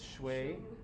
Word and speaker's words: Shui: Shushu, well, that's how it's spelled, right? But it's Shui, Shui in Lesotho, Lulu in UK, and Mira here in Jordan, right?